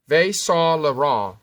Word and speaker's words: Saint Laurent: It's called it's Saint Laurent. It's called Saint Laurent. There's a lot of silent letters in there, but that's how it's pronounced.